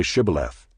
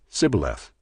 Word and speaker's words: Shibboleth: When he said no, they said to him, "Then say Shibboleth." And he said, "Sibboleth," for he could not pronounce it right.